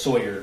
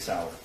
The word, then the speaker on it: Sauer: So when he mentions the Sig Sauer, he mispronounced Sauer as Sawyer, which if you purchased that firearm and it was for yourself, you'd be familiar with how to say Sig Sauer.